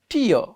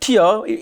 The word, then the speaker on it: tear: Let's check other word. Tear. Tear. The pronounce not tear. Actually, my pronounce maybe, my pronounce maybe mistake, because we are learning English from the third world countries. Yeah, the real pronounce tear.